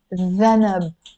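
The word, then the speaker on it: ذنب: But in standard Arabic, it's written with a dhanab, dhanab, which is a tail. But in Lebanese, we pronounce it danab.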